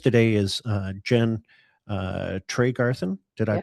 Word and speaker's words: Tregarthen: My guest today is uh Jen uh Trey Garin. Did I pronounce that correctly? Trey Garin.